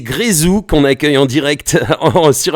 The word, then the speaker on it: Grézou: Je l'ai mal prononcé toute la semaine, mais c'est Grezou qu'on accueille en direct sur Ado Fun Web Radio.